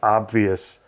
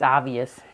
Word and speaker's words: obvious: This week we may have to correct Grams because I believe obvious is pronounced with the B in there. I don't think it's silent. Obvious or obvious? It's the way I pronounce it. It's obvious.